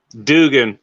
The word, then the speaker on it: Dugan: You say Dark Light Duggan or Dugan? Here, I'll highlight him again here. No, I'm just saying, how do you say his name? Dugan.